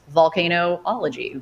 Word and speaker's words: volcanology: other places in Europe, they spell it Vulcan, Vulcan, volcanologist. But here in America and most other places in the world, it's VOL. So it's volcanology, volcanoscience.